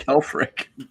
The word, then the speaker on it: Helfrich: Mark Helfrich.